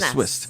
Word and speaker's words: Swist: And I always want to put an F in there, but it's an S. It's a Swist.